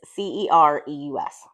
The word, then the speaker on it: Cereus: And Sirius House is spelled like the Sirius flower, and it is Cereus.